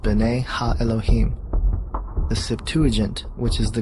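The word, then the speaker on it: בני האלהים: of God mentioned here in the Hebrew is pronounced bene ha Elohim the Septuagint which is the Greek translation of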